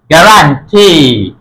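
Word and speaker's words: guarantee: গে রা আ না রান গে রান টি গ্যারান্টি গ্যারান্টি।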